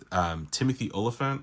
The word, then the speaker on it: Timothy Olyphant: Timothy Olyphant, I think is how you say the actor's name, did such an excellent job portraying the character.